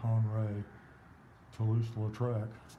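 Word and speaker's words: Henri de Toulouse-Lautrec: or the life of they pronounce it han ray toulouse latrek um and of all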